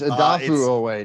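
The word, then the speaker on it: Odafe Oweh: I don't know how to pronounce it. Is it Jason Owe? Owe, yeah. It's Adafu Owe now.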